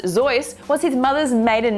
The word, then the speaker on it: Seuss: Seuss, pronounced Seuss, was his mother's maiden name.